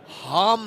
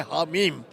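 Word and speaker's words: حم: लेकिन एक ये है कि हाम नाम का एक आदमी है, उसको मैं जानता नहीं, लेकिन वो उसको भी अपना नाम का प्रोनाउंसिएशन नहीं आता, वो लफ्ज़ है हामीम।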